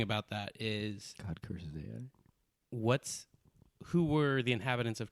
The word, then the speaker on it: Ai: I call AI. it I. It's actually I pronounced think you're like thinking of I am. That's AI. Moses. With it's pronounced, or it's spelled AI, but it's pronounced like I.